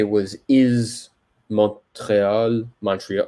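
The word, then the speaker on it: Montréal: the same thing but we just put like the French pronunciation of it so we don't pronounce the T but it is Montreal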